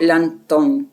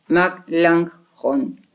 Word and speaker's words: Melanchthon: Me parece que el nombre es Melanchthon, no Langton, sino Melanchthon.